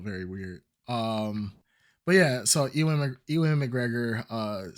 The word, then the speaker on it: Ewan: Like Evan, but with a W.